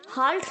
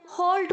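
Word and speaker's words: halt: समझ सकते हैं हाल्टिंग ध्यान रहे हार्ट नहीं बोलना है आपको हॉट बोलना है ओके हेलो सुनीत हैलोसिनेटेड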